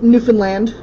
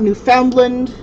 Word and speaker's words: Newfoundland: south of Newland but oh and it is pronounced newfinland it's not New Foundland it's not New Foundland it's newfinland understand rubber